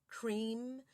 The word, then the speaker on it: Kreem: It's Om, I'm, Kreem, Shreem, Kleem, maha, lakshmi, swaha.